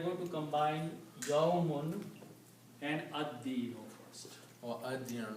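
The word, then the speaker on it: الدين: Now also, dal is a Shamsi letter, so it will kill the sound of lam, and you will pronounce this ad-dinu. Ad-dinu means the judgment. Ad-dinu. Okay, the actual word is dinun, but when you put al, it will become al-dinu, and when you pronounce it according to tajweed, you do not pronounce lam, but pronounce dal twice. So it becomes ad-dinu.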